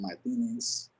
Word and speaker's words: Martinez: My name is Martinez. I pronounce it with a Spanish accent, so I hope y'all like that.